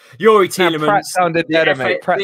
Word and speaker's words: Youri Tielemans: Youri Tielemans.